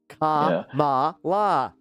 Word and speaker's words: Kamala: bear with me, but Kamala. I get it. Okay, now there. It's not because I hate her. It's because I'm stupid. All right. I think it's a dead end if Kamala is the best choice.